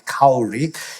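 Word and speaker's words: Kári: you to Cur Stephon he pronounces it the way that Icelandic vikingos would which is cowry if I expose you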